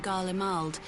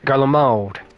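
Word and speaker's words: Garlemald: Having heard of descent in Galald, I dare. Oh, I've been saying it wrong. Garald.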